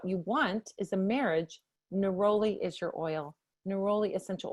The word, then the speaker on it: neroli: That's neroli. So neroli, it's spelled Neroli, is a beautiful, beautiful essential oil, and it is for deepening a commitment.